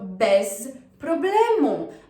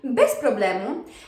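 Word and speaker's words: bez problemu: right so best problem best problem just note that even though we have the letter z there it doesn't really sound like z it's not that strong we pronounce it more like an s so best problem because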